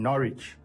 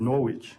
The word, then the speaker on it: Norwich: were talking about um the town Norwich yeah and I pronounced it Norwich yeah um and it's obviously having a silent silent W so so no no